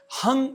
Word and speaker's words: हं: या 15 मिनट तक हंग मंत्र का उच्चारण करें। ह और ह के ऊपर बिंदी लगी हुई है। जब आप इसे उच्चारित करते हैं तो ये होगा हंग हंग हंग।